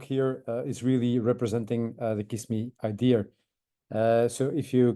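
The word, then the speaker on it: Cyssamme: uh to invite um kiss me in this case so yes you can spell it out as c y SS am me but it's actually much easier if you call it kiss me um and as you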